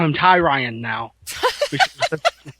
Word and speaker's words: Tyrion: I mean it's all overshadowed by Tyrion, or I want to call him Tyrion now. That's how I pronounce.